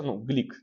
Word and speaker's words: Глюк: В 2020 году получила Нобелевскую премию американская поэтесса Луиза Глюк. Прекрасная поэтесса, Глик на самом деле, Глюк, у нее так пишется просто фамилия. Ее часто называют, по-моему, правильное произношение Глик, у нее австрийские корни, если я не ошибаюсь.